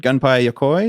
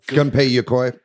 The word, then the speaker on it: Gunpei Yokoi: know how to say this individual's name, but Gunpei Yokoi. Is that how you say his name? Gunpei Yokoi.